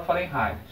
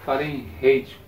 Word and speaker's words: Fahrenheit: para comparar eu tenho escala fahrenheit ou Fahrenheit como vocês querem como você fizer a pronúncia então escola Prefeito você tem aqui o ponto de pau quando eu falei era um alemão tem origem alemã tu fala eu Fahrenheit a temperatura de ebulição